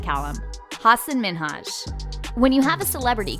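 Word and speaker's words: Hasan Minhaj: People always mispronounce it. They're always like, Hassan Minhaj, Hussein.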